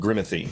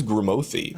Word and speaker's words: Grimothy: Yeah, people are gonna be like, "What is Grimothy?" But it's Timothy, but with Grim.